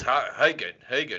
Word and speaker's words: Haugen: All right, so how do you'll pronounce it? It's Haugen, am I right?